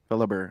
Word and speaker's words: Fellhaber: Fellhaber. I like it. So the H is silent. Fellhaber.